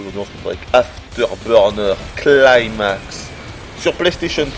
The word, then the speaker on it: After Burner Climax: Afterburner Climax. Ah ouais, quand même. Ah, il le prononce mieux que moi, faut l'avouer. Moi, j'aurais dit climax. Afterburner Climax. Mais non. Vous l'avez entendu? Il faut dire Afterburner Climax.